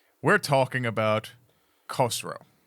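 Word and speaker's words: Khosrau: Uh, K H O S. Okay. R A U. It's like Kosro.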